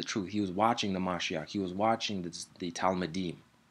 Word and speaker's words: Mashiach: He's the Mashiach, and you should call him by his true title, the Mashiach. The Mashiach, if you want to pronounce the k, or the Mashiach, that's his name, that's the title.